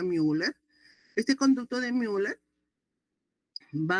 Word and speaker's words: Müller: Y esta conducto paramesonéfrico también llamado conducto de mer u l e rul que pronuncia müller.